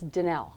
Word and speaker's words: Danele: It's like Danielle, but not. All right. So Danele. Danele. Danele. So Danele. Mm-hmm. That's me. Got to get the accent on the right syllable.